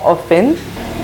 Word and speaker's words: often: Is it often or often? More often. T is silent, so more often.